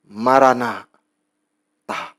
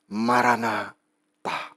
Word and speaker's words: Maranatha: Dibacanya begini. Maranatha. Maranatha.